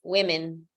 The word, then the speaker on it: women: But if you're going to say it in plural, please stop saying women, woman. The correct pronunciation is women, women.